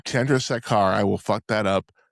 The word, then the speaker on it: Chandrasekhar: Jay Chandrasekhar. Chandrasekhar.